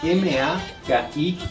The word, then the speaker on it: maki: Cómo se dice mano en quichua Es magia m a k i Maki Sí entonces ahí en la pronunciación bueno la cuestión es que en español